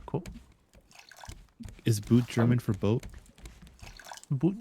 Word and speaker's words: Boot: Is boot German for boat? Boot, it's German Oh, for it's not boot. pronounced boot, it's pronounced boat.